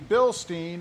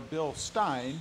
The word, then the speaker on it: Bilstein: going to go with the Bilstein or a bill stein depending on how you pronounce it shocks in the rear